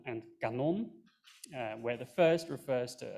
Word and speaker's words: kanon: languages like Dutch, where you have words like kanon and kanon, where the first refers to a canon of historical items, I think, and kanon is cannon, a piece of artillery.